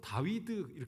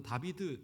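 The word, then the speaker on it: David: 그리고 어 이것을 어이 히브리어 원활를 읽으면 어 다윗은 다윗 발음됩니다. 다윗 어 그래서 이것이 어 독일어나 이렇게 와서 다비드 이렇게 발음이 바뀐 건데 어 현대 히브리어에서도 다비드로 발음한다고 하더라고요.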